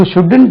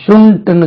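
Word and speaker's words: shouldn't: யூ ஷுடன்ட் டூ இட், யூ ஷுடன்ட் டூ இட், SHOULD. இது உச்சரி பாருங்க, ஷுடன்ட், யூ ஷுடன்ட். இது நான் ஒரு சில கேசட்ல வந்து மக்கள் வந்து ஷுண்ட்னு சொல்லியிருக்காங்க, அப்படி சொல்லக்கூடாது. ஷுண்ட் சொல்லக்கூடாது, ஷுடன்ட்.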